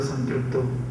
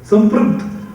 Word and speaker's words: संपृक्त: संपृक्त, संयुक्त भी बोल सकते थे कालिदास जी, संपृक्त बोले। संपृक्त ये शब्द दोनों ओठ मिलके ही निकलता है। चेष्टा करो संपृक्त उच्चारण करना, संपृक्त बोलना, परंतु ओठ जोड़ना नहीं।